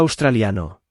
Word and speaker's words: australiano: Again, there are no accents, so the emphasis is naturally fallen on the second to last syllable. Australian said by a male and a female again. Soya Australiano.